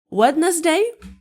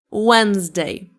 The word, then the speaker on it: Wednesday: And number 5 is Wednesday? No? Wednesday. Wednesday.